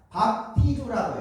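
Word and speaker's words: βαπτίζω: 이걸 또 헬라어라고 하는데 그리스어 헬라어로는 이 세례를 뜻하는 단어가 밥티주라고 해요. 밥티주 한번 해볼까요? 밥티주, 밥티주. 여기에서 이 영어 단어 베티즘이 나오고요. 비슷하잖아 발음이.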